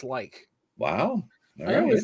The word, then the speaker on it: lich: And in Old English, it's pronounced like. Wow. I always said lich.